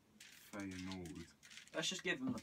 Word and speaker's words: Feyenoord: Feyenoord FC.